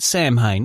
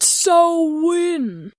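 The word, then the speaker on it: Samhain: the main focus for Danzig he called it Sam Haan which is most often pronounced as I just did but if you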